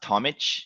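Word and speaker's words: Tomić: Is it Tomic? It's pronounced Tomic. It's like similar to, I guess people know like Novak Djokovic. We have from Balkans. I'm Croatian, so we have the ch at the end instead of a c.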